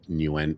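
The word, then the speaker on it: Nguyen: I still don't know how to pronounce it. When newen new Yeah.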